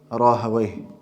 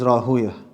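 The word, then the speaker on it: Rahawayh: They pronounce it Rahaway, because that's what is in line with the Arabic language.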